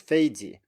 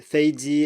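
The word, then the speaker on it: 飞机: So what many students do is that they kind of chicken out on the second one and say something like 飞机, or 飞机, or do whatever. They change something on the second syllable because they can't stand having 2 in a row. But you just have to do it that way. 飞机 is the way people say airplane.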